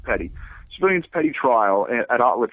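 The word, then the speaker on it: petit: a civilians Petty trial it's spelled p-e-t-i-t it's pronounced Petty civilians Petty trial at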